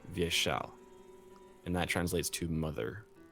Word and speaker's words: Vyeshal: this it's V yeah and also in via shall the second syllable is always the emphasis so it's via shall and that translates to